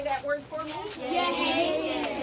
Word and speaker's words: Yehaken: All right, so this building is called a Yehaken. Can you all say that word for me? Yehaken. It's spelled Y-E-H-A-K-E-N.